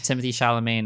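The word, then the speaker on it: Timothée Chalamet: coming out too Wonka so like hella it's Timothy shamain at the the end of this saying his name wrong I'm probably saying his name wrong but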